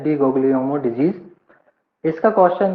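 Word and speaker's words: Di Guglielmo: से लिखा रहता है, डी उसको जो है प्रोनाउंस करते हैं डी गोग्लियोमो डिजीज।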